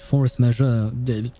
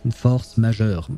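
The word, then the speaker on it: force majeure: the word he used Force measure I'm pronouncing it with a English accent because that's how we pronounce it but it is actually French Force measure that's how we would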